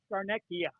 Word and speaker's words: Scarnecchia: Scarnecca. Scarnecca. He gave. Well, it might be Italian-wise, Scarnecchia. There you go.